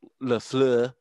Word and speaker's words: LaFleur: So, Andy Reid's a better offensive coach than LaFleur, whatever the hell his name is there up in Green Bay. Oh, you had it right. Nice French pronunciation on that.